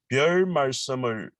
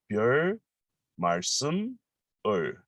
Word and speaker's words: 별 말씀을: This is a little bit hard to pronounce, but let me pronounce slowly. 별 말씀을, 별 말씀을, 별 말씀을. Because I don't want to pronounce each one, because in Korean, some word connect to the next one.